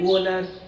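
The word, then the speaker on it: Wöhler: Here R is silent letter. So Friedrich Wohler, he is the first scientist.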